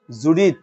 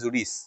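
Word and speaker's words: Judith: কর্ম হলো প্যারাফ্রেস তিনি লিখেছেন জেনেসিস এক্সোডাস আর জুডি উচ্চারণটা ওখানে যদিও লিখছে জুডি কিন্তু আমাদের উচ্চারণটা হবে জুডিস জুডিস কারণ এই ইংরেজিতে হাদিস একটা বাংলা শব্দ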